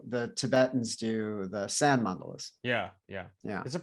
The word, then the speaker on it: mandala: what he's doing, even the tool that he's using, this is how the Tibetans do the sand mandalas. Yeah. Yeah. Is it pronounced mandalas?